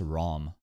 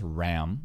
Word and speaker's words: Ram: they seem like PR why do people pronounce Ram as ROM I don't understand because ROM is ROM then there's Ram with an a then